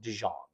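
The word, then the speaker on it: Dzyan: And it's spelled, I think, Dzyam, but it's pronounced Dijon, like the mustard.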